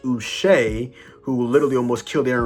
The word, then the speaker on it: Uche: I mean, they got a sack from, I believe it was, off the top of my head, Joshua, apparently it's pronounced Uche, who literally almost killed Aaron Rodgers, and then he went in and sacked him.